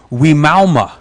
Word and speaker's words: Wimauma: And I had to say, I spelled it out for her, and she said, oh, Wimauma.